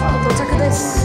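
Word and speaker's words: 到着です: In Japanese it's 'touchaku desu'.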